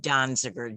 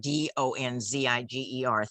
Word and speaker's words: Donziger: So if anybody wants to look it up, I'm sorry, I mispronounced his name. It's Steve Donziger, Donziger.